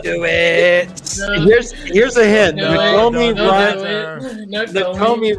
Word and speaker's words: Nakomi: Nakomi rhymes with all kinds of Italian food. Exactly. And pony.